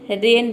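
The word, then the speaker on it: rain: उसी तरह से यहाँ पे देखिए मीट, प्लेन, रेन, रेन में देखिए केवल हम RAN को प्रोनाउंस करते हैं, आई साइलेंट रखते हैं, इसमें आई को प्रोनाउंस नहीं करते हैं, RAN, ये हो गया आपका रेन।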